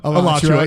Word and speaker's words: Alachua: I have a bunch of random ones, but please come to the Daft Cow Brewery show in Alachua, Florida. I think that's how you say it. Alachua, yeah.